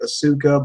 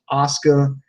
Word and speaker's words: Asuka: do apologize for mispronouncing her name I was pronouncing it Asuka but you know it I'm wrong it's actually pronounced Asuka and every time I hear that now I